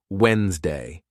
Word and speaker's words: Wednesday: particularly helpful for example in Wednesday the D is silent so you say it as Wednesday by breaking down the